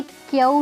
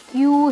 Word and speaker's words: queue: ये क्यू नहीं है, ये क्यू है।